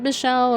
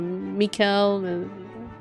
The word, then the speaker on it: Michel: name i was like is it michelle or mikel so michelle is correct then those last two